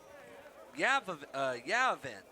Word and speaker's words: Yavin: Yavin is what the pronunciation chart says, so that's what we're going to call him.